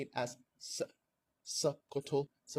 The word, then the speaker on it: Sokoto: Sokoto, it's not Sokoto. There's a glottal stop in the pronunciation of Sokoto.